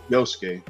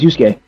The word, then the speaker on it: Yusuke: number four yusuke no I said the name I said his name wrong but yuu Haku uh yeah uh yoske yeah you no it's yusuke all right yusuke or